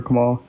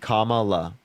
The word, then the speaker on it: Kamala: Can you give me 2 reasons why you're voting for Kamala?